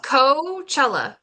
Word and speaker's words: Coachella: Is it Coachella? It's Coachella. Coachella. It's like Kachow. Chella.